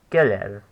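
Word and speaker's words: קֶרֶב: Kerev. It's 2 syllables long and has stress on the first syllable.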